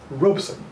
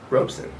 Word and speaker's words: Robeson: liminal figure and constantly two syllables robson robeson and you know he's